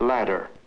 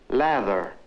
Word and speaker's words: ladder: Now, what happens when a Latin American encounters an English word like ladder? He tends to pronounce it lather. I need a lather. Which does he mean, since he pronounces them both the same way?